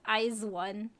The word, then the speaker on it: IZ*ONE: Air says, I have to be truthful, I never knew how to pronounce their group name. Yeah, a lot of people didn't know either. It is IZ*ONE.